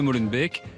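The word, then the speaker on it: Molenbeek: compris pour la prononciation on dit pas Molen be mais Molen B Molen B d'accord voilà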